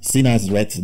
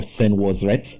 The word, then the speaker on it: Senwosret: The Nswt of this period are Amenemhet or Amenemat the First, Sinasret the First, or Senwosret the First, because that's the original way of pronouncing the word.